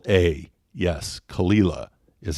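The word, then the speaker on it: Caol Ila: a o l space i l a yes kalila is how they pronounce that so it's just going to take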